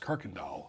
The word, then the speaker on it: Kuykendall: So a lot of your kids call you Coach K, but tell the public out there, because your last name is pronounced Kirkendall.